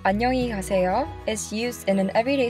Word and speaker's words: 안녕히 가세요: Let's first practice the pronunciation of 안녕히 가세요. I'll say it three times. 안녕히 가세요. 안녕히 가세요. 안녕히 가세요.